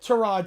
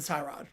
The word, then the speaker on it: Tyrod: He said Terrod Taylor and then he changed his pronunciation to Tyrod. So, people go either way on that one.